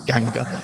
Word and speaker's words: Ganga: I'm opening with the lines, and again I'm using Eliot's pronunciations here. Ganga, that is the sacred river Ganges. Ganga was sunken, and the